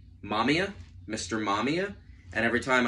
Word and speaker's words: Mamiya: film on IMDb I was like hey it's Mamma Mia it's Mr Mama Mia uh it's mamia and that's how it's pronounced in the film so this is a